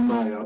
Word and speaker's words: Nia: No, I repeated Nia or Naya because I wasn't sure which way it's pronounced, depending on whether you're in the States or England.